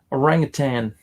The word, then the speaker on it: orangutan: It's spelled tan, but most people say tang, including me. Yeah, it's one of those things. Orangutan.